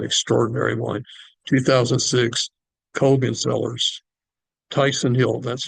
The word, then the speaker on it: Tychson Hill: it is an extraordinary wine 2006 kogan sellers Tyson Hill that's spelled t c HS o n CERN Sil